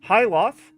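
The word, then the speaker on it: Hythloth: And the Ultima Codex reads, Hyloth is actually how you pronounce it, is a dungeon located in the southern shores of the Isle of Avatar, near the Shrine of the Codex.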